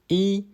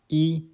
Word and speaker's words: 一: Did you know the character E can be pronounced in 4 different ways in Chinese? Let's dive in. First, we got E, the most common one,